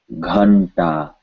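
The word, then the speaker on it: घंटा: So the N sound is pronounced the same way we say ta with no air, and the gha has to have air. Ghanta, ghanta.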